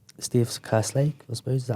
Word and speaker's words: Kerslake: Yeah, I think Steve was saying, Steve Kerslake, I suppose, is that how you pronounce it? Kerslake, yeah.